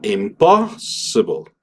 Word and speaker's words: impossible: la pronunciación cambia y va del imposible en donde la sílla tónica está en la si a impossible.